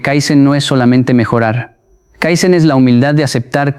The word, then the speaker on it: kaizen: Porque en Japón existe una palabra antigua, una palabra que se pronuncia kaizen y que se escribe con 2 ideogramas.